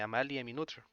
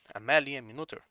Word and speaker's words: Amalie Noether: Se trata de la mujer llamada Amalie Minuther, que se pronuncia como Amalie Minuther, ya que esto es en alemán.